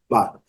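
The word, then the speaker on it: bought: Essas três letras não são pronunciadas, então a pronúncia é but, but, but.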